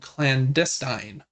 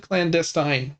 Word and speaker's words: Clandestine: It's called Clandestine. I would have said clandestine. Same. But I think either pronunciation is correct, but they said clandestine in the video.